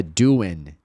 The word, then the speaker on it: doing: Esse G frequentemente não vai ser pronunciado. Você não vai ouvir essa letra G ali no ing. Então é doing.